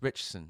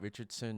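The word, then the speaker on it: Ritchson: uh that's how I think that's how you pronounce his name it's uh yeah it's richson not Richardson not Richardson it's richson that's that's how it's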